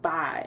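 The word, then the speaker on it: Baye: of the couple, Bye, it was written it's spelled B-A-Y-E, and he said in there more than once that it was pronounced Bye, and I'm like, I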